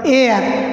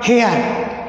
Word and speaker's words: heir: HEIR উত্তরাধিকারী বলি, এটা উচ্চারণ এয়ার নট হেয়ার।